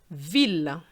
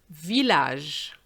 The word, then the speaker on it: ville: Now, words with ille. Normally the sound is E. However, we have this word which is often mispronounced. Ville, village. Je répète, ville, village. As opposed to famille, famille. And then we have this